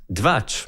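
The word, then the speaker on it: Двач: They themselves created 2cha, pronounced dvach.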